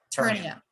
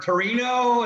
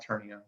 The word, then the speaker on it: Ternio: And the name of your company is, help me if I don't want to mispronounce it. Ternio. I'll help you avoid any possible. I've heard Torino, is it Gran Torino? That's Ternio.